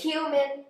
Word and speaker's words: cumin: like thank you Mountain I don't some people pronounce it cool it's cumin well I don't like it so I don't